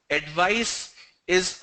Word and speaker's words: advice: Advice is a s sound. Advice. Advise is a z sound.